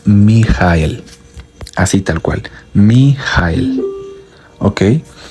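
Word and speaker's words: מיה: llama, unidad o unirse, es mem yud hey de derecha a izquierda y se pronuncia mi jael, así tal cual, miel.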